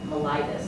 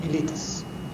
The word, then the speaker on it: mellitus: Diabetes is one of the oldest known diseases, and its official name is called diabetes mellitus. That's how you say it. Mellitus.